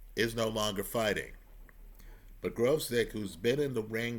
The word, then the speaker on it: Gvozdyk: The proper pronunciation is Gvozdyk. It's spelled Gvozdyk, right?